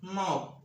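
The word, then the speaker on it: knob: নাও, হাতল। আবার বলছি, ইংরেজি শব্দের শুরুতে কে-এন থাকলে কে-এন এর উচ্চারণ দন্তন্য হবে।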